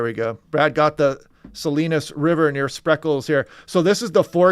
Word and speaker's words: Salinas: down yeah the slight Salinas that's right Salinas I was pronouncing that wrong Salinas River there yeah